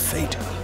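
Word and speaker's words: phở: And by the hands of fate, she'll decide upon the same musical number as retired fisherman Duc Nguyen. And with bellies full of foe. It's actually pronounced fa.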